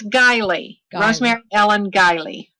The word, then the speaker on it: Guiley: got it wrong uh can you pronounce it for us please it's gilee Rosemary Ellen giley right